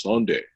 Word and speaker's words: Sonde: Person from Norway who pronounced the name that way, and she says it's not Sandy, it's Sonde. So my entire life I've been wrong.